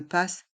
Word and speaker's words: Pass: Navigo le Pass Navigo le mot Pass est un mot anglais et on le prononce à la française passe un titre de